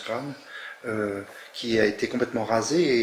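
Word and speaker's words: Craonne: C'est vrai que moi, j'ai vu dernièrement des manifestations sur le chemin des Dames, où on voyait le village de Kran, ça se prononce Kran, qui a été complètement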